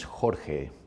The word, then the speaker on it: Jorge: here and George I know that it's not pronounced George is it that is correct yeah my original name is Jorge Jorge I hope that yeah me too yeah